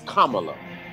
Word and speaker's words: Kamala: say it's it's um it's like the punctuation comma so it's kamala and that's what she